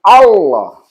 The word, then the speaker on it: Allah: Nah, aturan grammar itu kalau ada huruf double kan yang satu kan naik dia menjadi tasdid. Jadi bacanya malah menjadi Allah.